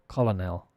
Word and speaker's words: colonel: COLONEL. And the pronunciation is colonel. Like an R in there. Colonel. It's absolutely unrelated to the spelling. You just have to know.